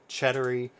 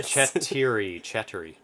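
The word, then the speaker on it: четыре: Cheddary. Not Cheddary? Cheddary. There's such a subtle difference. It's a Russian word for four.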